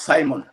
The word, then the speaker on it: Saman: get that correct sir the last name is pronounced simon simon yes simon simon